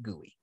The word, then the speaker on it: GUI: the gui the gui the graphical user interface pronounced gui okay um so the